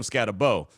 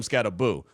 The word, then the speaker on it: Skattebo: Matter of fact, for the longest, because you see the way his name is spelled, people thought it was Cam Skattebo. No, it was Cam Skattebo.